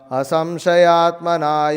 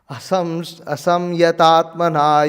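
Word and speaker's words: asaṃyatātmanā: Asamshayatmana yogo. I'm saying it wrong? Oh. Oh my God, I am saying it wrong. Asamyatatmana yogo. Repeat that. Asamyatatmana yogo.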